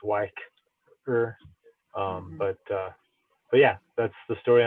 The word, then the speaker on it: Y-ker: to pronounce it, like with a capital Y and a capital K, so it's Y-ker.